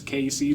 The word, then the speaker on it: KC: I was like, "Oh, maybe that's not the proper way to say it, but it's KC, just the letters KC."